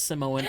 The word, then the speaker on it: Samoan: And then like other Actually, it's Samoan. The Rock is Samoan. I know Samoan people. It's like Samoan's correct too. It's just not, how it's usually pronounced there.